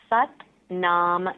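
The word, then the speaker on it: Sat Nam: or that you're doing this it's called the set nom meditation so it's spelled s80 pronounced set and then naam na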